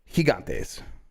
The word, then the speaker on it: Gigantes: I have to say it like Cervantes now. Yeah, but still wrong. Gigantes. Gigantes. Yes, like Jorge. Like the G, the first G is soft. Yeah, Gigantes.